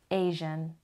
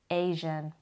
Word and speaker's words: Asian: و تلفظ Asian هم دقت کنین، Asian. Asian.